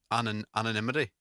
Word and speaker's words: anonymity: It's uh is it anonymity? Anonymity. Anonymity. Anonymity. Yeah. That's it. Anonymity.